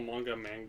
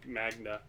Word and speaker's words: manga: I used to call manga magna. I used to call it man gay.